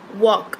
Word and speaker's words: walk: like Wednesday okay Wednesday walk right L is silent what are the other